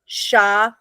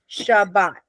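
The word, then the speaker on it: שבת: It's Sha, Ba, T. Does that make sense? So it has to go together because this is Sha, okay? And this is Bat. This is a closed syllable. So it's a consonant, vowel, consonant. So then we know this is Sha and this is Bat. So it's Shabbat, Shabbat.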